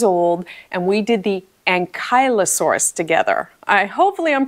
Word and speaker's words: ankylosaurus: who's 8 years old and we did the Ankylosaurus together I hopefully I'm pronouncing that correctly now he corrected me on